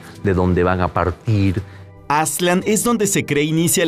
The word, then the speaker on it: Aztlán: Lo mismo pasa con Aztlán, que sería la pronunciación más cercana, con Aztlán para los mexicas.